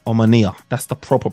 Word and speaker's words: Omonia: game Manchester United versus I was calling them ammonia uh but it's omania that's the proper pronunciation so look we're gonna get it right today omania look Manchester United made a meal out of